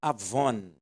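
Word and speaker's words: עָוֹן: só coincidência mas a a pronúncia é Avon é com n essa palavra do hebraico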